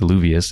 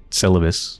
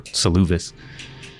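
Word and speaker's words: Seluvis: because he's dead also i've been mispronouncing his name against luvious it's syllabus or saluvis but i guess i'll hand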